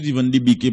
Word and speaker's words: Van de Beek: Van de Beek, sous Van de Beek, bon, faut tout faire, mais c'est Van de Beek, il prononce son seul E, non, B-E-E-K, et comme